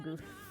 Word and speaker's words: Goof: It's pronounced Goff, but we all just call him Goof, so...